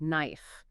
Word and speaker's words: knife: really watch out for a really common one is the K at the beginning of words like knife you don't pronounce the